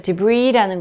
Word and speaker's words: debris: debris, 자, debris라는 거는요, 뭔가가 이렇게 팍 깨지거나 폭발했을 때 잔해, 파편이 이렇게 떠다니거나 이렇게 남아있거나 하는 거 있잖아요. 그런 잔해 혹은 파편을 debris라고 얘기를 하죠. 여기 S는 묵음이고요.